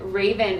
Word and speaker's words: Rayvan: and for everyone wondering raven is spelled r-a-y-b-a-n yes thank you group dot com but it sounds like the bird sounds like you've called